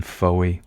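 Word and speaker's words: Fowey: 1891 he sought solace and creative renewal in Foye now I used to go out with a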